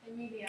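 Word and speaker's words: Emilia: Amelia. Say it again. Amelia. Let's try it. No. Like that? How do you spell it?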